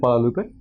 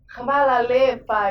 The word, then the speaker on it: hvala lepa: idea what that means Kuala Lupe? wait fu** thank you very much? how do you say it? hvala lepa! oh my god I thought you were saying like Guadupe no no no no How do you say it?